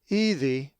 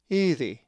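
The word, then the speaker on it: ἤδη: If you said ethi, you are correct, for the accent is over the first eta, ethi.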